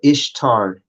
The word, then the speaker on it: Ishtar: Or Ishtar is how it's pronounced in the Greek.